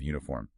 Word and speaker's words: uniform: Or the W sound in queen or that J sound at the start of uniform.